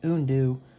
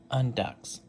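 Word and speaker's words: Undeux: It's pronounced Undu because the X is silent. Everyone's been saying Undux. No, it's not that. It's Lizard Runner Undu.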